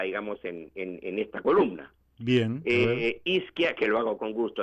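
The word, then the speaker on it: Izkia: Ya, es Isquia, eso se escribe con I-Z-K-I-A.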